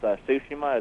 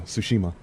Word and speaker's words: Tsushima: i think i think very rarely if someone tried to put the t in there but like no it's kind of solid it's silent yeah tsushima yeah but that and